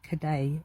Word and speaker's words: Cade: And um you know, please do check out our wonderful Karen Cade. Not Cade, Cade.